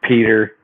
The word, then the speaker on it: Petyr: also have Petyr Baelish the tyre Baelish however you want to pronounce that it's Peter it's just Peter I don't know why